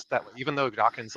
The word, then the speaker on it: Dawkins: pronounced mispronounced it as dockings but a lot of people do that and so yeah it's important people remember when mentioning Richard Dawkins name it ends just with NS not NGS so just just keep